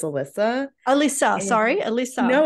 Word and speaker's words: Alyssia: Aquarius discussion is that the eye is silent so it's Alyssa Alisa sorry Elisa no